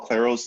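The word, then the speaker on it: Clairaut: the mixed derivative theorem it's usually called Claro's theorem the T is silent it's another French mathematician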